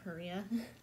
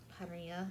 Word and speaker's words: Parrilla: I had a weird dream that I hung out with one of my favorite actresses, Lana Parrilla. Or Parrilla, I think is how you correctly pronounce it.